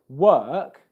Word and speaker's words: work: If you see the word work, you're not going to pronounce the R sound because it comes after a vowel sound in spelling.